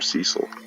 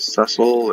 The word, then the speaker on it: Cecil: the same way and I had always called him Cecil and when the DS version came out and everybody found out that it announced it sessile and you pronounce it